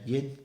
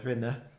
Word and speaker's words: rinne: through it, but yeah, the past tense is just yin, yin. It'd almost be like, if you used to spell it phonetically, like DHIN. So instead of rinne, right, which you'd hear elsewhere, you get yin, yin she.